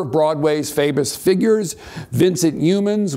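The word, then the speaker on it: Youmans: Broadway's famous figures Vincent humans we know it's pronounced that way because once Cole Porter Porter rhymed humans with humans um Rudolph fmel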